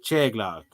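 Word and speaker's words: teaghlach: to say, but it's Choglock. Tiglock. Oh, man, it's hard to say. The word of the day was family, which is hard to pronounce. It's Cheglock. Cheglock.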